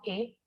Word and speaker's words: est: Entonces, mon nom est, recordemos que acá no pronunciamos la S.